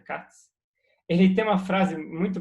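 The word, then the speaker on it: Kac: Agora, no entanto, tem tem um matemático que chama Mark Katz, escreve Kak, mas se eu não me engano pronuncia Katz.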